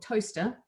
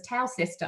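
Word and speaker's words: Towcester: I was 11 and she lived in toaster and everytime I wrote it I thought the word was tau sister because that's how it's spelt so I thought I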